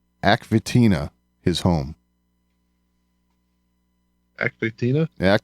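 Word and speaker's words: Aq Vetina: his home actually tina fitina is it a water planet not aquathena oh yeah and i i could be pronouncing that incorrectly but it's aq space capital v e t i n a v tina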